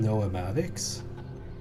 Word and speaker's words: noematics: You pronounce the E in noematics?